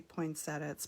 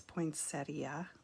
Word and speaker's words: poinsettia: guessing that's a poinsettia i say poinsettias poinsettia that's the proper way to say it so yeah really cool